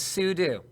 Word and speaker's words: sudo: want to pronounce itse sudo so which one do you use when talking about the command CU like so there you go no one's wrong I know it's super user do but like look at